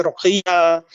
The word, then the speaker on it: Rokhaya: It's pronounced differently, like in Nigeria, they'll say Rokhaya, they write it different ways but it's all derived really from that name.